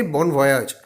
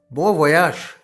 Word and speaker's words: bon voyage: We say bon voyage. But do you know that it is actually pronounced as bon voyage? This is basically a French word.